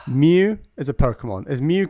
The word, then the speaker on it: Mew: Why isn't Mew called Moo? That's what I want to know. Because that's not how you say it.